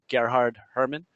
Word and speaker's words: Gerhard Hoermann: Uh, nobody pronounces my name right. It's actually uh Gard Herman.